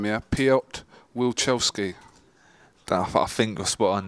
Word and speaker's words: Wilczewski: I'm going to try and pronounce his name here. Piotr Wilczewski.